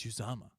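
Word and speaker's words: Uzomah: his name right and he's like it's it's uzama it's um he's my cheapy pick here for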